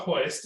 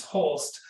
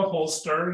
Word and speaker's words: Holst: And I'm like, no, there's no I in my name, it's an L. And then I'm like, it's like a holster, you hold a gun like that.